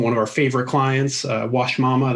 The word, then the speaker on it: Uashmama: of our favorite clients wash mama that's spelled with a u but yeah so we